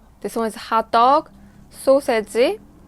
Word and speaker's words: 소시지: This one is hot dog, 소세지. Korean pronunciation is 소세지. 소세지 or 소시지.